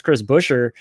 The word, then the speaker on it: Buescher: how to say his name right, and that's Chris Buescher.